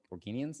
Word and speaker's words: Organians: Organians is how you say it.